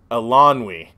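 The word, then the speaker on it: Eilonwy: the girl's name uh i kept hearing it a different way elanwy i believe is how it's pronounced anyway she helps him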